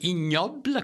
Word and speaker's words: Ig Nobel: Ensuite, il y a la stupidité en sciences aussi, avec les prix IG Nobel, qu'on appelle ignobles, qu'on prononce comme ça, puis le prix Darwin.